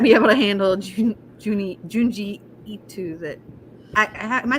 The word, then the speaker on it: Junji Ito: Hey, I'm still doing detective work over here, so You might not be able to handle Junji Ito. That am I saying it right? Junji Ito.